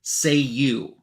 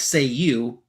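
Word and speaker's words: Cei-U: times the sacred word say you. and uh breaking the fourth wall again. They say in English it's pronounced like say you as you would already have noticed if you weren't reading a comic book.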